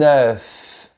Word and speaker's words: œuf: Un œuf. Remarque que ma bouche est bien verticale, comme pour le mot bœuf. Imagine un rectangle vertical et prononce bien la lettre finale F. Un œuf.